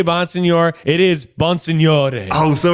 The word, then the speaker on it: Bonsignore: Wait, so Miles, there's no accent on the second E of your name. We've just been tacking that on this whole time. I'm sorry. What? No, it's Bonsignore.